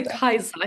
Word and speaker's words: Katja: We actually say Kaisa here in Northern Norway, but that's Kaiser, like okay. it is a Swedish name, so it's a bit hard to say in English.